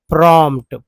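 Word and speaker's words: prompt: उच्चारण 1 रुपये में, came the प्रॉम्प्ट, प्रॉम्प्ट, प्रॉम्प्ट, प्रॉम्प्ट, ठीक है, प्रॉम्प्ट, जिसमें पी को आप देख रहे हैं कि मैं नहीं उच्चारण नहीं कर रहा हूँ, यानी ये पी जो है साइलेंट है।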